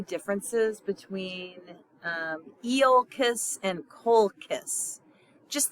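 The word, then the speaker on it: Colchis: between um eiss and Co kiss just think of when you're pronouncing these uh words think of kiss smooch eiss and Cole kiss all right so here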